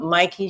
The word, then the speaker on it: Mikey: I want to say Mickey, but Mikey Sherrill.